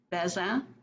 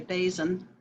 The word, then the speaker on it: Bazin: born nancy grace topping beza is the french pronunciation or if you want to anglicize it you can say basin and i was born